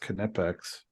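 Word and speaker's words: Knipex: guess it's stainless steel Steve says it's actually pronounced canipex yeah I think it is all right there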